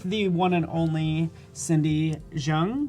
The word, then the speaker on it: Zheng: My name is Paul Tranny with the one and only Cindy Zheng, right?